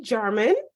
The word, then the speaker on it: Jarman: friend and colleague, Jarman. Is that how you pronounce your name? Yep, you nailed it. I was like, wait a second. Sometimes J's pronounced differently.